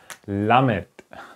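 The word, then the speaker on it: ל: the end okay and that consonant is pronounced like love for example okay love or like okay it's the l sound lamit like love okay like love so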